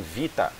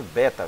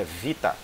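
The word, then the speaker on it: βήτα: em hebraico, você tem Vita. Não é pronunciado Beta, viu gente? Beta está a pronúncia errada. A pronúncia da palavra realmente em grego é Vita, porque ela tem o som, assim como no hebraico, o Bet, ele tem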